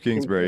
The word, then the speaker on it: Kingsbury: some big calls and in uh uh uh kingberry right that's his name is that how you say it their offense coordinator Cliff Kingsbury yeah he threw he threw a freaking fullback